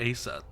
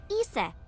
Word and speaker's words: Isis: probably yeah and about Asa horace's mom is named Isis but in ancient Egyptian it's pronounced closer to ISA or ASA hmm how do I